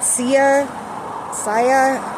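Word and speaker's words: Sia: And it's very it's understandable um especially during these times because it triggers memories and things that you've lost and that can be extremely hard for many people.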